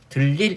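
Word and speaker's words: 들일: 니은 첨가된 다음에 리을이 니은과 만나서 유음화 돼가지고 최종적으로 들릴 이렇게 발음이 됩니다.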